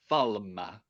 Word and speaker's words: Falme: I pronounce it falma like it's an Italian word.